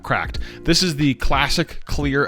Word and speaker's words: CRKD: called the Neo from a company that goes by the name of cracked c k d pronounced CL cracked this is the classic